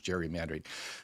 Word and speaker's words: gerrymander: So that's how those two things actually should be Gary Mandre. I think his name was actually pronounced Gary, but anyway, we'll go with Jerry Mandre.